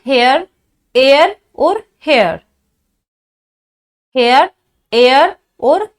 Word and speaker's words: heir: तो उत्तराधिकारी का सेंस चाहिए तो HEIR एयर चाहिए। AIR एयर अलग होता है, HEIR दोनों का प्रोनाउंसिएशन सेम है।